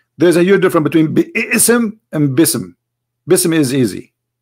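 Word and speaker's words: بسم: say you see here you didn't say be ISM no more here they say BISM so it's not an error scribe it's an error in the pronunciation are you getting my point because they are not saying and when they recite the Quran they don't say be awesome and it's written wrong no they recited BISM and I will tell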